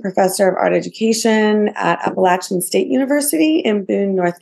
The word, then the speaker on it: Appalachian: lived experience wonderful I always see the word Appalachian and I'm like in my head I say